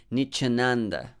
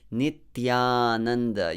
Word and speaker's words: Nityananda: So don't say Nichananda. Say Nitya. Tya. This syllable is important. You need to practice it. Nityananda. Your tongue has to touch your teeth.